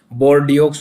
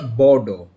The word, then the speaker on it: Bordeaux: वैसे तो इसकी प्रोनाउंसिएशन अगर वर्ड वाइज वर्ड देखें तो BORDEAUX बोर्डियोक्स होती है, लेकिन ये एक फ्रांस की सिटी है, तो इसकी फ्रेंच में प्रोनाउंसिएशन होती है बोर्डो, BOWDAW, बोर्डो।